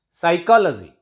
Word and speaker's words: psychology: Psychology. P is silent before T in this word, and P is usually silent before S in all the words.